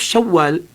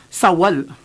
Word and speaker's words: Shawwal: Instead of Shawwal, sa atin kasi Sawal.